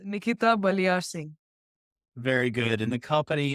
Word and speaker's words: Baliarsingh: Yeah, it's pronounced as Baliarsingh. It's Nikita Baliarsingh.